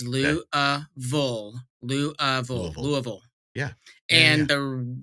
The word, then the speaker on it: Louisville: perfect no okay seriously I say it wrong it is not Louisville it is louville Lou Louisville yeah and